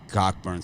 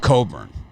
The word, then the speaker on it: Cockburn: best names it's not coburn that's for damp sure but the ock is silent yes the ock is